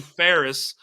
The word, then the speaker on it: Fares: I think I'm pronouncing that correctly. I'm an Yes. American. For all of you Americans, it's Fares.